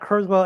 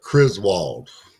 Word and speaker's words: Criswell: It's not Criswell. It's not Griswold. Not the National Lampoon of K-Folk. So make sure. Right. Criswell. Yeah. I believe And that's how you say it.